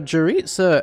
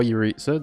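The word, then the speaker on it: Jeritza: So say hello to Jaritza, everyone, or Yuritsa, depending on how you pronounce it.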